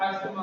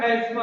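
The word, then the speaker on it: asthma: हो सकता है या अस्थमा हो सकता है। हालांकि इसको एस्मा बोलते हैं, लिखा है अस्थमा, सारी दुनिया में लगभग ज्यादा लोग बोलते हैं अस्थमा इंडिया में, लेकिन इसका सही प्रोनाउंसिएशन है एस्मा।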